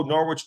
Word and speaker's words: Norwich: And everyone's like, "Oh, Norwich does it at the silent W."